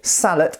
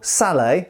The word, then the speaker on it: Sallet: I'm trying to reform my pronunciation. Most people would call this a Sallet, incidentally, but I think etymologically speaking, in English, in medieval English anyway, it was probably referred to as a sallet, the same way as we say a bassinet.